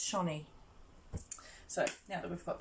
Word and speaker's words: Channie: hi it's me shaunie if you don't know how to say my name it is shaunie okay it's not or shanny it's shiny so now that we've